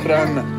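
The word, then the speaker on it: Kranj: There's a J at the end of that, but it's silent for some reason. No, it's not. Kran.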